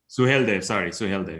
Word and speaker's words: Suheldev: Suheldev, yes.